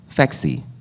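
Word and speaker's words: Phexxi: for me was uh fexi supposed to be pronounced like sexy the birth control I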